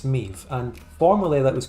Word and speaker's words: MIV: Miv is the basic pronunciation as an English speaker, if you see that, but Meev is more LARP and maybe implied by having 2 eyes in it. Let's go with Meev.